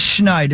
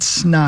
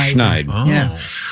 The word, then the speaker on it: Schneid: But it is Schneider. It's not snide. Schneider.